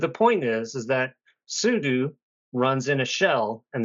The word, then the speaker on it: sudo: come at me bro it is super user do so it's pronounced sudu this isn't a gif